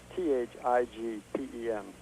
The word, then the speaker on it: Thigpen: It's Thigpen. Thigpen. Thigpen, not Pigpen.